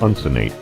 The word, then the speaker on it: uncinate: How do you pronounce it? Uncinate.